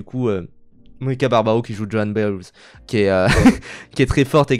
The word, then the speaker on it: Joan Baez: Je prononce comme ça parce que sinon ça fait Joan Baez et ça fait bizarre. c'est B-A-E-Z, donc c'est voilà.